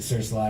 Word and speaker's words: Sir Sly: with seniors going but we always pronounced it search lie when we play shows we call search lion we got manager and our manager is like well you guys are kind of writing serious music so maybe you're bidding shouldn't be like an internet joke and we tease like and you guys are prone areas aren't pronouncing it the way that it looks so we just change it to be the way it looks yeah somebody was commenting